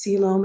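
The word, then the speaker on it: coelom: true body cavity or a true siloam and yes that's pronounced siloam and i don't know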